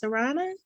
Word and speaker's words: Sarana: Hey, I guess your name is pronounced Sarana?